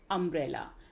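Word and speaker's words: umbrella: अम्ब्रेला, अम्ब्रेला यू से बनने वाला वर्ड है लेकिन इसका प्रोनाउंसिएशन है अम्ब्रेला। जो पहली साउंड है वो है अ।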